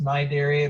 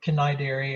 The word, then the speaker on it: Cnidaria: it's a strange word it has a silent c so it's pronounced my dairy but it looks like cannae dairy or something like that